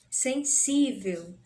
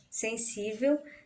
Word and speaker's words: sensível: Sensível. Sensível também, na separação silábica, nós temos 3 sílabas aí, né? Sensível. Ela é até acentuada, né? A gente sabe que o si é a sílaba mais forte. E já que ela é uma sílaba, né? Penúltima sílaba mais forte, né? Também podemos classificá-la como paroxítona.